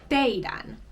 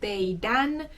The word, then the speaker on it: teidän: And just like with meidän, to turn this into puhekieli, all you do is take the D off.